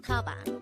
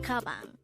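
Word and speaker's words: 가방: The Korean term for bag is Tabang. Again, it's Tabang. This is pronounced with two syllables. The first syllable is ga, the second syllable is bang.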